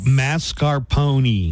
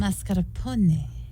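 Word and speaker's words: mascarpone: on something delicious yeah like mascar Pony well here's how you should be saying it it's Mazar po oh masar I was I was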